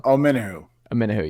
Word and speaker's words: Omenihu: Omeniu? I'm not sure how to pronounce his name. Got Charles 1. Omenihu, yeah.